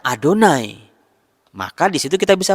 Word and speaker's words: YHWH: Meskipun dalam kitab suci tertulis YHWH, orang Israel sendiri ketika membaca YHWH, Yod-He-Vau-He, itu dibacanya Adonai.